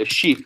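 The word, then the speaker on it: escheat: a process called esot people say a sheep but I think it's ASAT that's how you say it ASAT when you die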